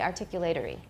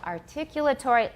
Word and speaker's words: articulatory: We don't say articulatory. 这个已经练过好多遍哦。 Where's the stress? Second syllable, articulatory.